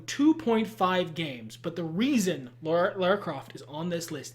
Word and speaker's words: Lara: lara croft i mean it was originally supposed to be laura and they changed it so don't like pronounce it however the you want she says lara i try um i say lara cause